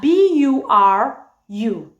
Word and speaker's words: buru: It's spelled as B-U-R-U.